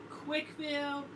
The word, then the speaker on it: Quickville: Oh, by the way, it is Quickville, CWC. We pronounce it as the word quick. Alright? Simple as that.